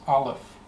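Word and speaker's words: Aleph: the Hebrew alphabet is Olive the letter olive olive the letter Olive is a silent letter Olive is silent if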